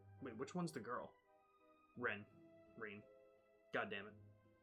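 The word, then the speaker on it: Renne: It's pronounced Ren.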